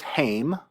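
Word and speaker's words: הם: um and it uh can be pronounced two different ways or spelled two different ways one is haim the other is hema in both cases you've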